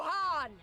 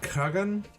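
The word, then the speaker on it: Khan: calls for a new han han oh that's how you pronounce it Han not Kagan Han why even put the K and the g in there just go forth and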